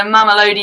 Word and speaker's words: Mamelodi: In what country would you find the Mamelodi Sundowns playing their home matches? The who? The Macaroni Sundowns? It's Mamelodi. I think it's pronounced Mamelodi.